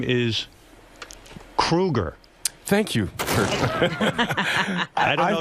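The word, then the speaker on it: Kroeger: And Chad, you know, your last name is Kruger. Thank you. I don't know if you pronouncing know that.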